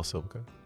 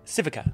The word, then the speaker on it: Civica: Hello, Silvica. So, did I pronounce that right? I'm sorry. Civica. Civica, I'm sorry, apologies. No, but of course. Honda Civica. Yeah, yes.